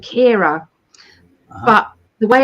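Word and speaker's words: Ciara: friend's name who did the talk is called Kira but the way it's spelled I can't get my head around it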